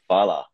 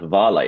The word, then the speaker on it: Hvala: So I pronounced it as Havala, and then he kept telling me, no, it's not Havala, it's Fala.